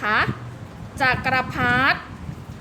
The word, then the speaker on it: จักรพรรดิ: ธาตุ นะ คะ นัก เรียน เห็น ไหม เอ่ย คำ ว่า จักรพรรดิ์ เด็ก สระอิ ค่ะ ไม่ ออก เสียง คำ ว่า ธง ชาติ ต.